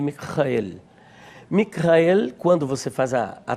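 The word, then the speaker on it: מיכאל: Justamente o nome, na verdade, ele vem do hebraico Michael e tanto no grego quanto no hebraico, a pronúncia é justamente esta: Michael. Mikrael.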